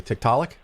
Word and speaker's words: Tiktaalik: the cover you have i i'm assuming i'll pronounce this correctly tiktaalik yep the first edition had archaeopteryx but then i picked a different transitional fossil for the second edition so yes tiktaalik was discovered by neil schubert name is chicago